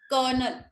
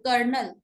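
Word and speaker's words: colonel: India वाले ना words पे स्ट्रेस बहुत ज्यादा डालते हैं, कर्नल। अमेरिका में कर्नल, स्लो जाना है, कर्नल, सॉफ्ट वे में बोलो कर्नल।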